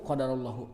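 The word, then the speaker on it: قدر الله: Bisa baca qadarallah ujungnya hu qadarallahu karena Allahnya sebagai ujalah fa'il qadarnya fi'il madi bisa dengan domah qadarullahi. Jadi ada dua opsi bacanya ada qadarallahu ada qadaruahi. Ya. Mana yang mudah silakan ya. Yang umum qadarullah.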